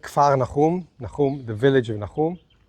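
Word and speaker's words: כפר נחום: In Hebrew, we pronounce it a little different. Kafarnaum, Nahum, the village of Nahum.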